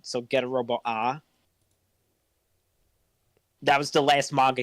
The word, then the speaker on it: Arc: was get a robo it's written Arc but it's pronounced ah for some reason so get a robo ah that was the last